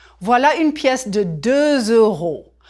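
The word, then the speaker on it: deux euros: You just heard me say 2 euros. Voilà une pièce de 2 euros.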